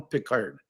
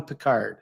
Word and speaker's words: Pickard: His name is Calvin Pickard. Pickard. It's not Calvin Picard. It's Calvin Pickard.